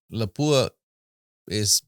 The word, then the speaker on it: Lapua: breasts for it uh or Lapua is which is the proper way to say to say it uh